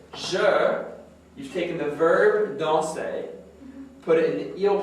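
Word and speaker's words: dansent: So here, je, you've taken the verb danser, put it in the eel plural form, which is what? What's the eel plural form of danser? Now we don't pronounce that ENT. Danse. But it's with an ENT.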